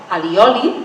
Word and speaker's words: allioli: I a Castella, tot i que li diuen ajiaceite o ajaceite, normalment fan servir el terme alioli, pronunciat amb L, perquè els costa pronunciar la L catalana.